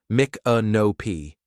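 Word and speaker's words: Micanopy: Pronounced Mick AOP.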